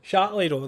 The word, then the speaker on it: Châtellerault: Châtellerault, that's it. How can you not pronounce that?